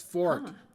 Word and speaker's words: forte: ain't exactly my forte the word is Fork not half bad the only time you pronounce f o r t e Forte is when you're talking about music One customade crane treasure